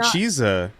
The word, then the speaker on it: Chisa: have not hello good evening it's me chiza so i feel like every time that we